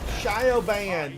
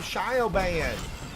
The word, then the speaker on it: Siobhan: I was working on Shioban. Then, yeah, so that name, you pronounce that name Siobhan, I think. Shaban.